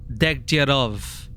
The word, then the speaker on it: Degtyarev: Yeah, because some people here pronounce it Degtyarov. But I just read it as this, Degtyarev. There was one character here that called him Degtyarev. But everyone else called him Degtyarov.